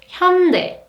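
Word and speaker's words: 현대: or a Hyundai but in Korean the correct pronunciation is Hyundai come pay Hyundai Hyundai so you might heard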